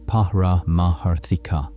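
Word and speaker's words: pāramārthika: The second level is called paramatika pronounced parah maharika which translates to something like ultimate or absolute reality.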